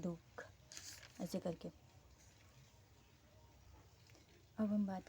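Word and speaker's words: दुःख: और इसका अगर हम एग्जाम्पल देखें तो जैसे दुख, ऐसे हम पढ़ेंगे दुख, मतलब दू के बाद विसर्ग आ रहा है, फिर ख आ रहा है, दुख, ऐसे करके।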